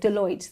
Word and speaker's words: Deloitte: There were 80 of, senior business individuals, everything from kind of Apple to I'm not sure if I can pronounce this right. Deloitte? Deloitte.